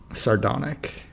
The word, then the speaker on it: sardonic: Sardonic. Sardonic. Yes. Sardonic. Yeah, I think the accent is on the D.